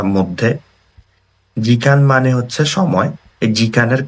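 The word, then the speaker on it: 時間: For example আইদা মানে হচ্ছে between বা মধ্যে, জিকান মানে হচ্ছে সময়, এই জিকানের কানটা হচ্ছে এই কাঞ্জিটা, ঠিক আছে।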